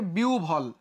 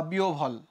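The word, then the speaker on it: বিহ্বল: যেমন দেখো এটা হচ্ছে বিহবল না, এখানে হয় ব আছে, উচ্চারণের ক্ষেত্রে বিউ ভল, উচ্চারণের ক্ষেত্রে কি হবে, বিউ ভল বা বিও ভল, মানে হয় ব ইউজ করা যাবে না।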